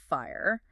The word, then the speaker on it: FHIR: Or FHIR, which we pronounce FIRE.